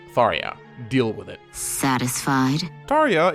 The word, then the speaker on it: Tharja: in the fandom over how her name is pronounced. Some swear by Tarah. Others say Tara. Some say Tara. I say Tharia.